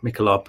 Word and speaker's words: Michelob: definitely a star and I always say m micho rather than mob Michelob got to remember that one I'm sure we're probably